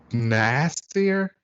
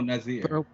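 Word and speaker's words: N'astirh: We get Madelyne and I can never pronounce the demon's name. Nasir? Do you know what I'm talking about? Oh, Nazir.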